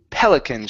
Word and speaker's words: pelican: instead of pelic it's Pelicans stress at the beginning Pelican okay very nice